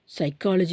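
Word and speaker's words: psychology: knowledge எடுத்துக்கிட்டிங்கன்னா கேவ விட்டுருவோம் சைக்காலஜி எடுத்தா பிஏ விட்டுருவோம் பிஏ ப்ரொனௌன்ஸ் பண்ண மாட்டோம் சோ இதெல்லாம் வந்து நீங்க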